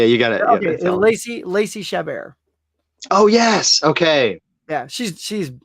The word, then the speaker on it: Chabert: I'm always confused on how to pronounce her last name, so I'm glad you said it. Yeah. It's not Chabert. I know that for sure. Right. Yeah. But Lacey Chabert.